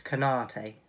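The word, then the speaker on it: Konaté: number eight and number seven how do you pronounce his name so it's kanate okay um liverpool and he's always just down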